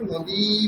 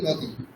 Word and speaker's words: নদী: যখন আমরা উচ্চারণ করি নদী নদীকে আমরা কি বলি? নদী বলি। আমরা তো নদী বলি। হ্রস হরসই উচ্চারণ করি। আমরা নদী। কিন্তু তবুও বাংলাতে দীর্ঘ ধরা হয়। কিন্তু উচ্চারণ তো নেই। উচ্চারণ করার সময় আমরা কিন্তু নদী বলি না। আমরা বলি নদী।